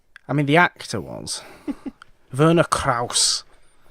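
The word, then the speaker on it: Werner Krauss: mean the actor was Verna Krause played that was quite good German pronunciation there Verna Kraus was a apparently a Nancy he played dr.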